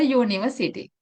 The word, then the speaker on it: university: “a university”, in here “u” sounds like a consonant, therefore, we don’t use “an” we use “a”.